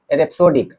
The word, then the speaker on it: rhapsodic: इसका प्रोनाउंसिएशन है रेप्सोडिक, RHAPSODIC.